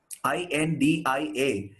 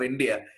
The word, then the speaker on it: India: See, in most of the languages in the world, if there is an A at the end of the word, they don't pronounce it as a long vowel. They pronounce it as a short vowel. They don't say India. They say India.